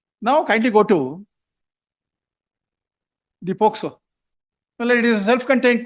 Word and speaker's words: POCSO: Quite often your lordship would say, listen until you say POCSO, not as POSCO.